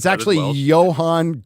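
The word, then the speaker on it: Ioan: If you look at how his name is spelled, it's Ion Griffud, Yes. but it's That is actually Welsh. Johan Griffith.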